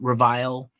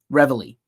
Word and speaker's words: Reveille: People didn't know how to say their name. I heard people call them Revile. Reveille.